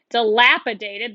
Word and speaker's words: dilapidated: Dilapidated. This symbol here is telling me that's the syllable that's emphasized. So I say dilapidated. That mark is telling me it's a long A.